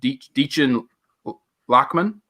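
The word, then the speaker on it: Dichen Lachman: It's Deechin Lachman, who was in Altered Carbon.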